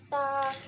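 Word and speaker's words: ت: Ta, Listen to me very carefully. Ta pronounce from the tip of the tongue touching the roots of the top two front teeth.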